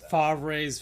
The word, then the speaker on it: Favre: Favre's felons. A Yeah. Yeah. There we go. Favver.